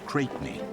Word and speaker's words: Crespigny: Julius Champion Cresby pronounced Cratey.